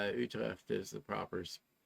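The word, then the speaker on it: Utrecht: What is it any relation or they may call it utretched but any but uh it's Utre is the proper pronunciation and then from there we'll return to Amsterdam for our flight home.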